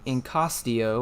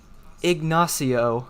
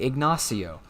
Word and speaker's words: Ignacio: Then we've got tropical storm Incostio, or I've never been able to say this name right. Ignacio, I think that's how you say it. Ignacio.